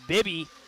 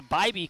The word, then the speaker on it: Bybee: Nice touch at the net there by Julia Bibby. Julia Bybee, correction. That's the pronunciation I'm hearing from the public address announcer here inside the gymnasium of East Grand Forks High School.